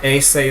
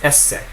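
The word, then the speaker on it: esse: to be the infinitive is it is essay it's not aay it's not essay it is essay and you want to make sure you're pronouncing those two consonants essay so now let's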